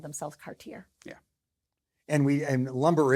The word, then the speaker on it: Cartier: And it's Cartier. Cartier. It's spelled exactly like Cardier, right? But there's a big I mean in Letington if you say Cardier, you will be corrected very because they all knew the Cartier family.